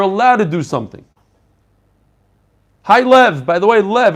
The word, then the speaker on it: Liev: Hi Lev, by the way, Lev, it's not Liev, it's Lev. It's spelled L-I-E-V.